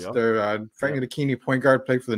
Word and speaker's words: Frank Ntilikina: I got to pronounce it there. Frank Ntilikina, point guard, played for the Knicks.